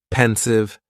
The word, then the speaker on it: pensive: And the pronunciation is very easy. Just two syllables and the stress is on that first syllable. Pensive.